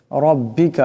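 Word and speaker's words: ربك: দিয়ে বাইর করতে হবে রব্বিকা এখানে উপর জবর আছে রাকে মোটা করিয়া পড়তে হবে রব্বিকাফিরুহু এখানে ওয়াও সিনকে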